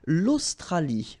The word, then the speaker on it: Australie: L'Australie, final E not pronounced.